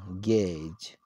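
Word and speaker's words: gauge: dear viewers so let's see go a enjoy gage gage and the same pronunciation in us gate so okay and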